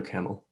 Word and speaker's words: Kamil: Yeah, feel free to overpronounce the I at the end. That's Okay. how foreigners usually end up avoiding pronouncing it as a camel.